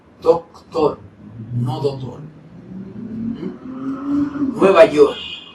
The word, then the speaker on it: Nueva York: Nueva York, no Nueva York, Nueva York. Hay una K que tampoco está de adorno, es para pronunciarla.